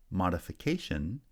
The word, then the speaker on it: modification: But when we add the suffix to create a noun, modification, the first syllable receives secondary stress, and the placement of primary stress has shifted to the fourth syllable.